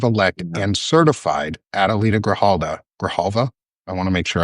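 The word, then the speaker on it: Grijalva: Grahalva, I want to make sure I I think it's Grahalva um is how you say her name.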